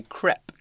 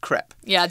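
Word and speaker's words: crêpe: put that into our crepe mixture by the way in the UK we say CREP all right not clip but just CREP yeah okay English UK English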